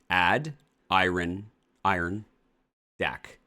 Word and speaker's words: Adirondack: No, I don't Adirondack. It's ad iron iron deck.